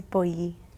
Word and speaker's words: Boyyi: Boyyi is just very simple, straightforward.